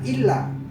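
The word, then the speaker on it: إلا: boleh lupa tasjid pada Illa tidak boleh lupa tasdid bacanya illa dan Allah itu juga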